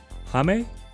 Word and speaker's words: Hame: right here is poppin my name is pronounced like the middle of kami hamiha hame it's easier to pronounce i think hame okay it's hard picking